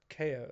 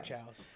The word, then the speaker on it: Chao: And then someone recently was just like, "No, they're called Ko like KO's or Chaos because it's spelled like chaos. They're chows. I don't want to hear. They're chows. They're just chows.